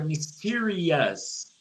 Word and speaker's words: mysterious: Quando a gente tem palavras em inglês que acabam com Os. Tá vendo aqui? Os. O som, a pronúncia disso aqui é us. Us. Então você fala delicious. Delicious. Se fosse uma coisa misteriosa, seria mysterious. Mysterious.